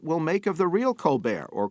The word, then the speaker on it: Colbert: to hate it will make of the real Colbert, or Colbert as his sister pronounces it, and if they will follow him